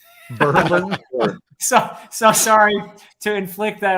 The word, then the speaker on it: Berlin: It looks like Berlin, but in our neck of the woods, they pronounce it Berlin. Berlin.